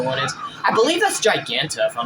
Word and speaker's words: Giganta: fighting Adam smash or is that giganto giganta should I say excuse me I said it wrong either there is